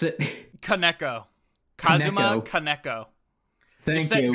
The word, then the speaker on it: Kaneko: Kaneko. Kazuma Kaneko. Thank you. Just say Neko, but Ka before it. Kaneko.